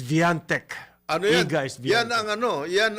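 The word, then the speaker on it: Świątek: si siviant ah well yung polish pronunciation ng kanyang pangalantech is Viante ano yan ang ano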